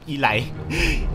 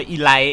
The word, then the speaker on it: Elite: สนอ อีหล นะ ครับ อีหล อ่าน ว่า Elite นะ ครับ อี เน พาร ที่ แล้ว ผม ไป อ่าน ว่า อีล นะ ครับ โชว์ โง่